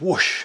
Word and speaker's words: Whoosh: or whoosh or however you guys want to pronounce it who whoosh it is whoosh and that I remember when you know Gillan